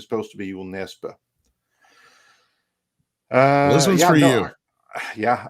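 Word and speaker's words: Jo Nesbø: Joel Nesbø. He means to say Joel Nesbø, like it's supposed to be an O with like a slash through it, like the forbidden sign, and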